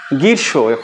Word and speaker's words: গ্রীষ্ম: হলে এখন প্রশ্নটা হচ্ছে যেমন গীর্ষ অর্থাৎ এই গীর্ষ বানানে ম ফলার উচ্চারণ নায় তাহলে কোথায় ম ফলা